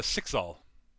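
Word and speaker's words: Cyxxal: very very old uh her name is uh sixal uh i'll spell that now c-y-x-x-a-l all right i'm writing that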